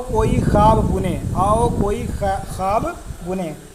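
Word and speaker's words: خواب: परछाइयाँ हो गया, तलखियाँ हो गया, आओ कोई ख्वाब बुने, आओ कोई ख्वाब बुने। ख्वाब लिखा जाता है, ख्वाब पढ़ा जाता है, वाव साइलेंट है, वाव मादूला रहता है, इसके बारे में बाद में बताएंगे, ठीक है।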